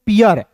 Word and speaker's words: pear: का दोस्तों प लिखिएगा और याद रखिएगा EAR जब भी आपको दिखेगा तो इसका उच्चारण ईयर के रूप में करेंगे। किसके रूप में करेंगे दोस्तों? ईयर के रूप में। तो PEAR को पढ़ेंगे दोस्तों पियर।